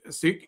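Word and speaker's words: Sikh: For those wondering, the correct pronunciation of the word sik is with a short I and an aspirated K, just the way you are describing it.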